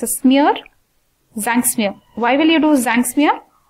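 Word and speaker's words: Tzanck smear: one what is this it starts with a t where t is silent it's a smear zinc smear why will you do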